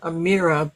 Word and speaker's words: Amira: Is that how you pronounce it? Yes. Amira.